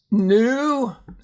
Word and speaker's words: knew: Knew.